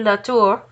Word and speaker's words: Latour: becomes bishop, Father Jean-Marie Latour, and his very, very close friend, Joseph Vaillant. They're both French, which is why I am trying my best to sound Frenchy when I pronounce their names.